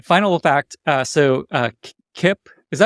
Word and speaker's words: Kipp: do too okay final fact uh so uh Kip is that how you pronounce his name Kip your CMO okay great so he I asked